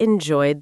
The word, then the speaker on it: enjoyed: Enjoy ends in a vowel sound. So the ed d ending makes the d sound. Enjoyed. We really enjoyed the concert.